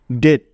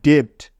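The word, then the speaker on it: debt: উচ্চারণ হবে ডকার ট ডেট ডেট ডেট মানে হলো ঋণ বা দেনা এই শব্দটাকে কিন্তু কখনোই ডেপ্ট পড়া যাবে না পড়লে 100% ভুল হবে ঠিক আছে বোঝা গেল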